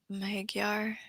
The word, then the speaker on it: Magyar: And Bowtie corrected my, pronunciation, This is Magyar. Magyar, Hungarian.